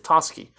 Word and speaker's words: Toschi: guide for it, because I would have said like Toshi or something, but apparently it's Toschi, and Bill Armstrong.